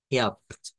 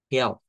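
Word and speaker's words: gelb: y en este caso lo vamos a pronunciar como help help no que es una esa es de las palabras que en el idioma alemán se intercambia el sonido de la consonante por su par correspondiente en el alfabeto fonético internacional Cómo así Por si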